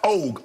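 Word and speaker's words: Ogg: Now, I think her name is pronounced Og, O-G-G, Kim Og, who's the DA of Harris County.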